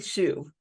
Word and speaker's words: Hsu: HSU, Jenny Shu.